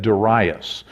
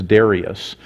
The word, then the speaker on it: Darius: way I say that I've always said Darius and I believe the correct way to pronounce it is Darius um and so they